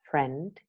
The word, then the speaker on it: friend: two example words where the eye is mute in both American and British English friend you don't hear and I and in the British